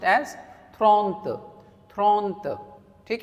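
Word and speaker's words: trente: is different, 30 is different, 30 will be pronounced as thront, thront.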